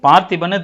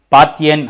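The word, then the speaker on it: Parthian: அது பார்த்திபன் தமிழில் வருது, ஆக்சுவலாக இங்கிலீஷில் ப்ரொனவுன்ஸ் பண்ணும்போது அது வேறு மாதிரி வரும், பார்த்தியன் அப்படிங்கிற மாதிரி வரும்.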